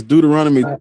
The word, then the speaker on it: Deuteronomy: Now this uh in Deuteronomy is now how do you say the Ara man it's Deuteronomy Deuteronomy.